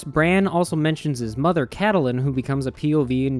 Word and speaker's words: Catelyn: the Starks you're thinking why is he pronouncing her Katalin and not Catelyn well that's because I found a so spake Martin and George says you're supposed to pronounce it Katalin not Catelyn surprised now she's over